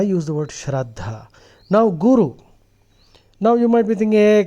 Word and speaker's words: guru: should be called a guru now to simplify it in English Guru the word guru has two syllables gu and Ru now guo in Sanskrit